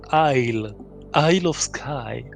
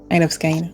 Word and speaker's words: Isle of Skye: raison sur la prononciation je viens de demander à Google et il me dit I of sky donc tu as raison il of sky voilà bon en tout